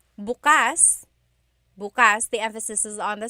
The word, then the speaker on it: bukas: If you say bukas, bukas, the emphasis is on the second syllable. That means open. If you say bukas, bukas, emphasis is on the first syllable, that means tomorrow.